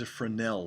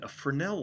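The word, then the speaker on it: Fresnel: safety this light is afrin l light it's spelled fres NE l but the s of silence for now and afrin l light the light itself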